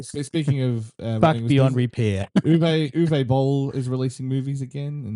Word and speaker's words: Uwe: It's Uwe.